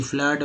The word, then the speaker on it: flood: और FLOOD फ्लड में उच्चारण डबल ओ का उच्चारण हुआ है अ के रूप में फ्लड।